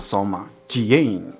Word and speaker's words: Soma Tjiane: of pronouncing it I'm Soma Kian that's how it is so